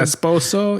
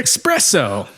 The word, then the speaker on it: esposo: Esposo? Yeah. Nope. No. And she says she's waiting for her espresso. No, she says she's waiting for her esposo, who is inside, and